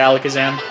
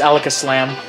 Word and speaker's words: Alakazam: much got destroyed by alakazam yeah oh i said it wrong it's alaka slam alexis slam yep he